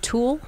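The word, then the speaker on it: tulle: yeah okay exactly well that's called thule it's actually called tool oh how do you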